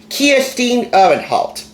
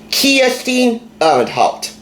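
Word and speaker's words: Kirstin Uhrenholdt: With over 75 kid-approved, as she says, fantastic recipes by Kirsten Ehrenholt, and that's how you pronounce her name, Kirsten Ehrenholt, a native of Denmark.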